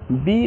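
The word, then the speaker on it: baa: যেমন বি double A মানে উচ্চারণ হচ্ছে বা।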